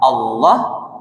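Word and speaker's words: الله: Makanya ucapkan Allahu Akbar itu dengan baik dan benar. Itu lafaz jalalah itu gak bisa dimain-main Bapak Ibu. Dah sebelum la tu berbaris di atas berbarisnya fatah Allah berarti bacanya tafkim tebal j Allah ya bapak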